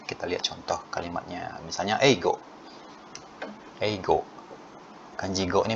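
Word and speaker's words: 英語: Misalnya eigo.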